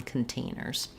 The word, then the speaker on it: containers: syllable tear materials and containers stressed on the tane syllable true tea on containers um great question about